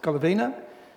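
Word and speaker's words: Golovina: of our two stories Golivina and the story in Luke 7 a few comments. Antonina Golovena, that's how you say it in Russian, accepted and participated in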